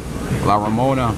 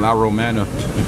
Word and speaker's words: La Romana: views of this park la Ramona I mean la romana keep mispronouncing it you got the D